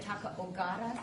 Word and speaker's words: Taka Ogata: We have an printout here of Taka, Fran, how do you say it? Taka Ogata? You got it.